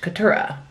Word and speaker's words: Keturah: I shall say her name is quateria yes quatera Katura Katura yeah q-u-e-t-u-r-a-h Keturah you should probably pay attention to when she